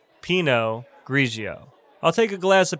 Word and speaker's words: pinot grigio: we have pinot grigio pinot grigio not peanut grigio it's pronounced pinot grigio i'll take a glass